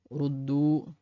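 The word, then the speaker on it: رُدُّوا: Et là, on a un alif qui est présent, mais qu'on ne prononce pas. C'est un verbe à l'impératif et au pluriel. Donc là, ce qui nous intéresse ici, c'est seulement la lecture. Et ce qu'il faut savoir ici, c'est que le alif qui vient ici après le waw ne se prononce pas. C'est tout. Donc faites comme s'il n'était pas là.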